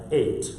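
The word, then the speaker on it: eight: And typically, the E-I is a long vowel. It is pronounced as a long A, like 8.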